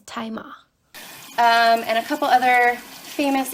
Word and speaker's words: Tzi Ma: I had mispronounced the name of the actor, and the pronunciation is Tzi Ma.